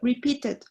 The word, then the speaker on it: repeated: Por ejemplo, repeated. Aquí sí pronunciamos la ed porque termina en T. ¿Ok? I stopped. Stopped. Aquí no.